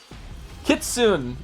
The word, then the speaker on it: Kitsune: Kitsune.